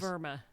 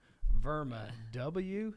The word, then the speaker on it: WERMA: Now, Verma is a European German company and um in Germany W is pronounced like we in the United States pronounce it with a V sound. Yes, it is. It is Verma. Verma.